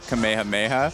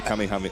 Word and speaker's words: Kamehameha: I pronounce it Kamehameha. Oh, I say Kamehameha. Oh, okay. It's okay. Tomato, tomato.